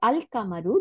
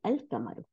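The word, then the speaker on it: القمرُ: আচ্ছা, তাইলে এখন এখানে কি বলছে, আল কামারু দ্য মুন ইজ প্রোনাউন্সড আল, এই যে এ এল আল, তারপরে কামারু, তাই না, আল কামারু।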